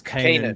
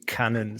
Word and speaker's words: Keenan: It's Keenan properly, but everyone calls him Cannon. So it's Keenan. I say Cannon. That's what we call him in the US.